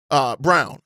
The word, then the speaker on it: Braun: Brown, that's how you pronounce it, because Denver needs to clear cap space to re-sign Peyton Watson.